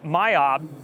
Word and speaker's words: MYOB: here in region so it's it's pronounced myob in our own region although it's interesting because